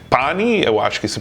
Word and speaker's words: Pani: O nome dele é Pani, eu acho que se pronuncia assim, e vamos conectar com ele agora. Hi, Seth. Hey, Pani, am I pronouncing your name correctly, first of all? That is perfect.